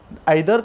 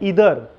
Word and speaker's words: either: मैं आपको बता दूं इसके प्रोनाउंसिएशन दो है, आइदर, नाइदर. आइदर का प्रोनाउंसिएशन है इधर और नाइदर का प्रोनाउंसिएशन है नीदर.